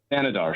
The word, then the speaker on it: Thanedar: Thanedar.